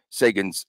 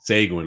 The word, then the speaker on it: Seguin: Cassidy tries to pronounce Sagan's last name. It's loads of laughter. I used to call him Seguin. I got drilled for that.